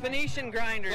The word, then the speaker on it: Phoenician Grinders: at that colt hey col we're talking about phonetically get it for me cuz I'm going to mess it up Phoenician Grinders there you go Phan see I would have